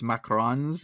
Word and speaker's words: macarons: I think I would probably say macarons because there's only one o and it's French right so I think that's how I pronounced yeah I think if you have the one oh it's macarons if you have the